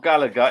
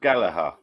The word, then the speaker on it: Gallagher: It's not Gallagher. It's pronounced Gallagher. It's an Irish name. The H makes the second G.